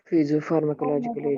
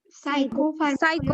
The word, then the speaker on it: psychopharmacological: Physiopharmacological agent. Physiopharmacological agent. Pharmacological agent. It is not physios. Psychopharmacological Psychopharmacological agent.